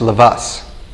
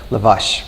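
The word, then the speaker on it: Lovász: an s not a lavash with a sound with an s at the end and that was uh that's the official hungarian pronunciation so if you're interested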